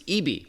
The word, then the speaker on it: ibi: He's Director of Product Marketing at Western Digital's Consumer Brands, and that includes Eebee by SanDisk. Again, it's spelled IBI.